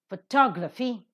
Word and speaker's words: photograph: selection of the vowels photograph the first syllable is accented photography the second syllable